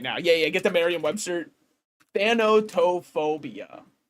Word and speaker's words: thanatophobia: There's just actually not even a singular way I could ever pronounce that. With that said, show me how to say it. Thanatophobia.